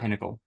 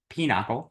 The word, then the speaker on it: pinochle: promise you that's how it is. How's it spelled? I don't know. It's probably spelled very similarly, but I promise you it's not Pinnacle. Stuff. Pinnacle. It's Pinochle.